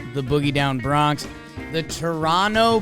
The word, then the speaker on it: Toronto: boogie down Bronx the Toronto Blue Jays don't pronounce that second T don't do it but they sweep the